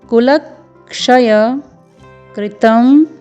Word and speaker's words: कुलक्षयकृतं: स्वर है, फिर त है जिसमें अनुस्वार है कुलक्षय कृतम, फिर द में ओ का स्वर है, पूर्ण वर्ण मूर्धन्य श है जिसमें अनुस्वार लगा हुआ है दोषम।